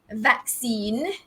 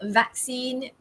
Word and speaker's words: vaccine: of saying this it's vaccine back okay so the pronunciation here is vaccine the stress falls on the first syllable vaccine where else in the